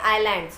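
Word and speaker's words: islands: तो group of आइलैंड्स के नाम अगर आते हैं, आइलैंड्स का मतलब होता है ईजलैंड नहीं है बेटा, ये आइलैंड्स है, ठीक है, एस साइलेंट रहेगा इसमें.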